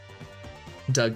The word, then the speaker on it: Doug: Doug rhymes with hug.